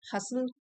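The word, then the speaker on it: hustle: Starting a side हसल हसल T silent है इसमें।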